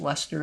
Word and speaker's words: Leicester: A word that I find one of the most confounding, like, place names in the English language, because it's spelled as Leicester. It's just pronounced Leicester, I believe, yep.